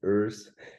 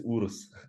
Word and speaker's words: Urs: we made it and it's funny how the americans and english-speaking guys pronounce earth because in germany it's urus but i love i